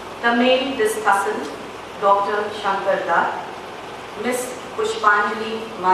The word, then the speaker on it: Dutt: Here he spells it as D-U-T-T. If that is U is as U, then this is to be pronounced as Tut.